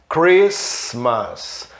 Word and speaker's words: Christmas: Mas o T é mudo normalmente depois da letra S, né? Mas existem palavras em inglês que tem T depois da letra S e o T é pronunciado, como street, né? Rua em inglês. Reparem, Christmas, listen, Christmas, Natal, né?